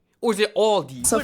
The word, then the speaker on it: Aldi: In English, people usually pronounce this Aldi. I think I've also heard Aldi before, but I think most people say Aldi or they also sometimes add an S that isn't there in the end and say Aldi's.